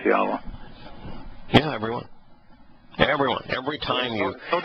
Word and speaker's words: Yahweh: You know how I came to to know that Yod-Heh-Wah-Heh was pronounced Yahweh?